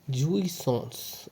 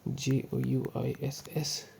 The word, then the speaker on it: jouissance: उसका नाम था, सुनो अब, jouissance। अब भाई ये प्रोनाउंस मेरे को करने इसलिए नहीं आता क्योंकि